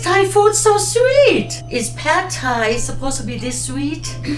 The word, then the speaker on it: Pad Thai: Is pad Thai supposed to be this sweet?